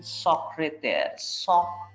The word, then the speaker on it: secrétaire: Secrétaire, E is pronounced as half a, so sacre. E এর মাথায়, second E এর মাথায় যেহেতু একটা চিহ্ন আছে, there is a sign above second E. So in this case, E will be pronounced as English A, alphabet A.